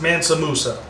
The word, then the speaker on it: Mansa Musa: it's just cool and it is pronounced Mansa Musa which i think is none of the pronunciations that I tried earlier so next track is